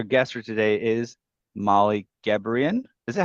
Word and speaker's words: Gebrian: Our guest for today is Molly Gebrian. Is that how you say it? Is that how you It like to is, pronounce it? yeah. Okay. Very good. I'm impressed. Most people say it wrong, so Okay.